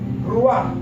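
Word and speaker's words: רוח: Ruach, se escriben es R-U-A-J, que quiere decir también viento.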